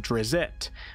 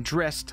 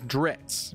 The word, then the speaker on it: Drizzt: currently using which is pronouncing drist like the word mist and the other one is dritz pronounced like ritz crackers